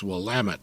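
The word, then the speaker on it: Willamette: Actually, you know, the the hint that we give non Oregonians is it's Wamtt, damn it.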